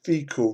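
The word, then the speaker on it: Fiacaill: actually got infinite the the fecal ridge that's how it's pronounced like fecal waste it's terrible really um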